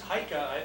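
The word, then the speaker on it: Eike: name it is yeah e-i-k-e in german it's haika i've actually seen the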